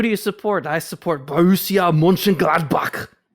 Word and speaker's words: Borussia Mönchengladbach: took me years to figure out how to pronounce this team name, but it is Borussia Mönchengladbach.